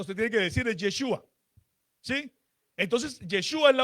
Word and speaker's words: Yeshua: entre ellos también controversias si es Yeshua o es Yahhua, si es con la E o es con la A.